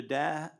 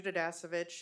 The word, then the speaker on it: Dasovich: you signed a card D davich I'm sorry I'm mispronouncing your name if you okay my name is dasovich and I'm a full-time